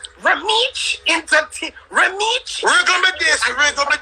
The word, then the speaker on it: Romeich: You have to say it like young brother. Romeich Entertainment. Romeich.